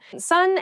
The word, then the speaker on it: son: It's son. A male child is someone's son. Son s o n is pronounced exactly the same as su n.